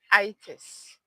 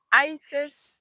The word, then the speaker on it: itis: The first one here today is itis. Itis or itis, depending on where you are.